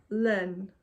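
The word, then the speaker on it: laine: name to Miller rent start again mil Ren Len it's French for 1,000 dreams in Wool so I'll spell it to you um so Mill m i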